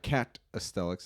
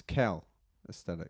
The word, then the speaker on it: calisthenics: It there's no T. It's not catastics. It's cal aesthetics.